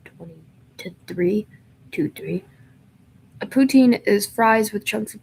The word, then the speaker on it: poutine: It's pronounced poutine, by the way.